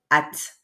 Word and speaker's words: hâte: donc on prononce h sans prononcer le H et c'est vraiment très